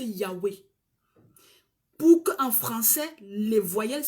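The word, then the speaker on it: Yahweh: que nous on prononcer Yahwé pour en français les voyelles soient insérées dans la prononciation d'origine juive ils ont ajouté le ah ils ont ajouté le E ça fait yawei certaines personnes prononcent ça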